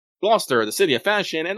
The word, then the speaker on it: Gloucester: Norwich the Port Town how do you pronounce this which one Lester glester ah glester Gloucester yeah welcome to this everybody yeah it's Gloucester glester the city of fashion